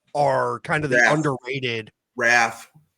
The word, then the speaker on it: Ralph: Raph. The L is non-existent and silent.